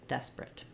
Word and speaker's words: desperate: I don't want desperate or desperate. No long clear syllables except for my stress syllable des, desperate.